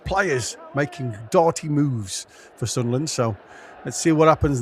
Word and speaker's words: Sunderland: you got to say sunland. Sunland. You can't pronounce it the whole way. Just Sunland.